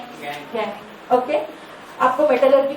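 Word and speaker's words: gangue: Second बताओ, इसका pronunciation कैसे करोगे? गैन।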